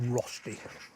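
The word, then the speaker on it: Rösti: this is the Swiss Rusty rushy Rusty Roy Roy lots of different ways of pronouncing it depends which language you're in we're going to call it rosty so we got the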